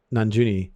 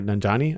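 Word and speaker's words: Nanjiani: kind of stuff um and then camille uh nanjuni or nanjani i think is how you pronounce his name as hajja estri pulled me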